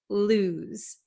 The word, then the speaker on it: lose: you understand the pronunciation lose lose it's not Lo and it's not loose okay it's loose okay this s sounds like a z lose lose so what